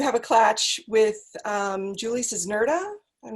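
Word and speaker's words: Czerneda: but I do have a clutch with Julie Cisnerda. I'm not sure how you pronounce her last name. Cerneda.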